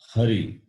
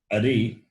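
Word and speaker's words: हरि: If it is a vowel a, Ari, Ari means enemy. So, if you change the pronunciation, the meaning will change.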